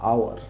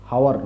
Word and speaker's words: hour: আওয়ার্স, আওয়ার্স, আওয়ার্স বা আওয়ার, হাও, আওয়ার, হাওয়ার নয়, হ্যাঁ, HOUR, এটা এইচটা সাইলেন্ট হবে আর এইটুকু উচ্চারণ হবে, আওয়ার অর্থাৎ ঘন্টা।